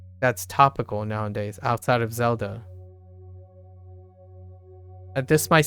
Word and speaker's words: Zelda: Okay, the name Zelda also begins with a Z, so we choose Zelda to represent this initial, even though Z in Zelda is pronounced differently from this initial.